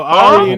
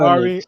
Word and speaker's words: Ari: to go outside yo AR my bad Ari I said your name wrong I'm sorry she just just said call me Ari my bad I know